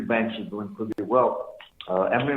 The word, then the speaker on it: Emory: Emory rhymes with memory, yay.